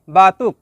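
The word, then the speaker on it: batuk: শব্দটি লেখার সময় লেখা হয় বাতুক, তবে এর সঠিক উচ্চারণ হবে বাতু।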